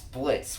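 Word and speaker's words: Blitzø: so there's also their boss blitz with a silent o what oh there's an o at the end of his name why because that works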